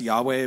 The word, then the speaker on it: Yahweh: that God and Scholars are pretty certain it's pronounced Yahweh but in many Traditions it's considered too holy